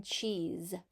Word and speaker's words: cheese: Now you might think that's spelled with the letter Z, but it's not. It's spelled with the letters S-E. S-E can make the Z sound at the end of a word, like cheese.